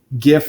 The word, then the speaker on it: GIF: It's Not worth our time, but the creator of the GIF format is adamant that it should be pronounced GIF.